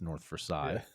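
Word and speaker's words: North Versailles: So we have a lot of French towns here, but nobody pronounces them in any kind of French way. So we have North Versales, that's North Versail.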